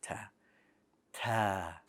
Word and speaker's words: ت: learning arabic here so we want the correct pronunciation of arabic so you have to add air to your ta ta all right and that